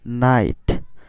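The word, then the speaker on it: knight: কে এন একসাথে থাকলে কে এর উচ্চারণ হবে না, তার মানে উচ্চারণ কি হবে? নাইট।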